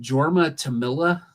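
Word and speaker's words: Jorma Tommila: Is it Jorma Tamila? Is that how you pronounce the guy's name? It is Jorma Tamila. Yes.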